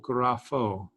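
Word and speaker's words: γράφω: or gnosis for knowledge graffo this letter is the is the ph again just like we saw with fos so g r a p h long o graph o um it means i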